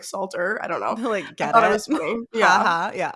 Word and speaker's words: Salter: Annie how do you say your last name Salter yeah and we met each other in Utah